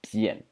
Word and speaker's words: 辡: So this particular phonetic series is led by this big character over here, which is pronounced Bian.